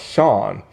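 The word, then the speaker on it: Sian: or Shane um Clifford I think it's pronounced she no not Sheen but it's pronounced Sean Clifford she is from fleabag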